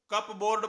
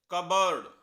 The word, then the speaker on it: cupboard: हम इसे कप बोर्ड पढ़ते हैं, लेकिन इसकी प्रोनाउंसिएशन है कबर्ड। कबर्ड।